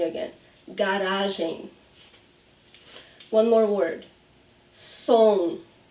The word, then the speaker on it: som: Som. Som. So see, it's the same sound as bom.